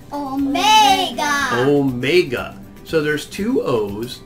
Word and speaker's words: omega: And this one at the bottom, Omega, is for O, like grow, snow, dough, go, and low, flow. So many O's.